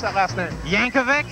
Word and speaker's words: Yankovic: pronounce that last minute Yankovic Yankovic just like you think and we are standing